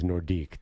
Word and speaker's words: Nordique: the Quebec nordics yeah a french guy told me this weekend is nordique don't say yes well